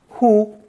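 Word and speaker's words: 乎: rising in the throat and being expelled forcefully pronounced who this forceful puff of air serves as a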